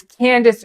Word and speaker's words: Candace: It's Candace Owens. It's Candace.